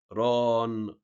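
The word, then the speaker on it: ⲣⲁⲛ: حرف الألفا بننطقه مضخمة، فيها كده هيبة زي ما قلنا قبل كده، ينطق مضخمة. عندنا بناخد عليه مثال زي كلمة ران. ران بصوا، خلى الحرف اللي بقى اللي قبله ايه فيه تضخيم كده.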